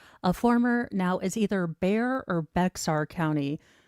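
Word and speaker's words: Bexar: A former now is either Bear or Beexar County. not being from Texas. I know some people say don't pronounce the X. So, is he either Bear or Beexar County DA?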